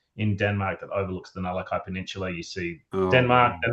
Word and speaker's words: Nullaki: It's actually pronounced Nullaki.